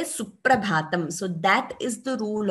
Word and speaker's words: Suprabhatam: So it is wrong to say Suprabhatam. It is Suprabhatam with that stress, with the double sound for P. So though we don't write an extra P here, while pronouncing, we say Suprabhatam.